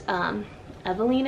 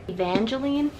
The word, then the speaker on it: Evangeline: This one follows Eveline, I think is her name. Please let me be right. Evangeline, that's how you say it. There's a G in there, I didn't know how to pronounce it.